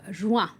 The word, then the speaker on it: juin: Now, the word joint and June are pronounced the same in French, joint. Even if they are spelled differently.